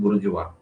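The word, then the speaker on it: bourgeois: आप स्पेलिंग देख लेना इसका प्रोनंसिएशन हिंदी में उसको हम लोग प्रोनाउंस करते हैं बुर्ज वा है ना या बुर्ज वाइज लिखा हुआ है देख लेना ये आपको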